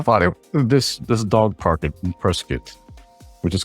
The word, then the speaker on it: Prescott: outsiders and you're visiting that city, the correct pronunciation is Prescott, not Prescott, just to let you know.